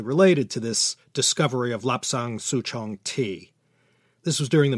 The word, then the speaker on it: Lapsang Souchong: It's called Lapsang Souchong tea. In Mandarin, this would be pronounced Li Shan Xiaozhong.